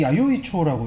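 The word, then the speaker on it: 弥生町: 그래서 이 즈음인 거고 미생정이 한 미생정이 야요이초라고 일본어 발음으로 하면 좋은 네.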